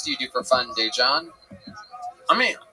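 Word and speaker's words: Daegen: His name is spelled D-A-E, which is day. And then it's G-E-N.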